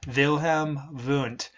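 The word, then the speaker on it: Wilhelm Wundt: here whose name was vam V that is German that's why the uh W's are pronounced uh we usually pronounce those as V's vilhm V and um so he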